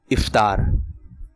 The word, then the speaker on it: افطار: آپ نے کہا افطار, اور اس کا درست تلفظ ہے افطار.